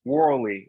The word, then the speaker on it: Worley: here with world renowned voiceover actor Mr Roy Worley if that's your name wrong yeah that was actually pretty good most